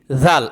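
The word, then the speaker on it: ذال: জাল আবার বলেন জাল দাল জাল জাল অক্ষটা কোথা থেকে উচ্চারণ হয় জিহ্বার আগা জিহ্বার আগা সামনের উপরে দুই দাতের আগার সঙ্গে লাগাইয়া জাল জাল অক্ষটা পাতলা হবে নরম হবে পাতলা বলেন জাল আবার বলেন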